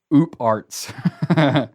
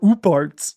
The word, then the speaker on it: OOParts: out of place artifacts aka oop arts or all parts it's definitely not uparts things that you well that's how it's spelled that sounds like a breakfast treat like pop tarts sounds like you had a stroke halfway through saying pop tarts things that show up